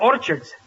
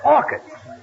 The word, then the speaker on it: orchids: Last night, I took my girl to a movie and bought her some orchards. It's not orchards, it's orchids. The ch is pronounced like K.